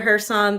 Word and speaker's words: Kherson: But what are we seeing right over here, fam, when it comes to, is it Kherson? Am I saying it right? Kherson? Yeah, Kherson. Yeah. The K silent.